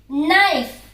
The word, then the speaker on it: Knife: Knife. What is this? Knife. Am I pronouncing it as knife? No. I absolutely did not pronounce the word K. Then circle it. That's it.